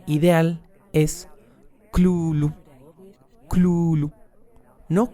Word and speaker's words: Cthulhu: de cómo debía pronunciarse este nombre y su pronunciación ideal es club club no cthulhu no catullo sino club con una completa inicial